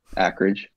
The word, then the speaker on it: Akridge: it should be pronounced it should be pronounced acreage because there's no C before the K right but like ack I go by acreage I don't really care